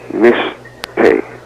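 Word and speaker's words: משתה: It's pronounced mishteh. Spelled in Hebrew, mem, sheen, tav, hey.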